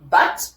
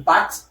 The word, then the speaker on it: but: looks like the word but the conjunction but in in in uh English but in French this one is B. You don't pronounce the T at the end. The T is silent but it is B which means a goal.